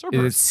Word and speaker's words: Cerberus: He pronounced it wrong. Cerebus? Cerebus? No, Is Cerberus. it Hmm. Cerebus? That's Cerberus. CERB? Hold on. What is it? Is it Cerebus? No, it's CER.